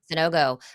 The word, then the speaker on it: Sanogo: Is that how you pronounce his name? No go, yeah. Sanogo. Okay, Adama Sanogo over 15.5 points.